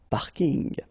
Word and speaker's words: parking: So I know it's coming from English, but still you should pronounce it the French way. Parking.